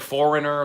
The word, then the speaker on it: foreigner: Oh no, there's words like foreigner, the G in there for no reason. Silent G.